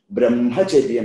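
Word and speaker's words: ब्रह्मचर्यम्: Brahmacharyam is advised because that means there Hma, H plus Ma, that Ma should be pronounced.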